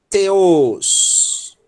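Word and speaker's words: θεός: Quem pronunciar como o inglês vai pronunciar C. Né? O T com a língua para fora, né? C. Quem pronunciar o T soprado vai pronunciar T.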